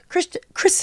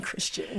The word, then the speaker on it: Kristen: Kristen, I keep on saying Christian.